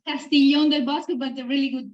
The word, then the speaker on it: Castiglione del Bosco: Our guest today is Selena Pitalis, hospitality at Castiglione del Bosco. Did I pronounce all that okay? Yeah, it's Castiglione del Bosco, but a really good pronounce.